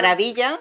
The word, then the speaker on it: maravilla: maravilla, wonderful, rhymes with Sevilla.